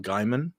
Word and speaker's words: Gaiman: No, no, is it Oh, Neil Neil Gaiman? Gaiman. Neil Oh, Gaiman. Oh yeah, g Neil Gaiman, not I Neil thought it was Diamond.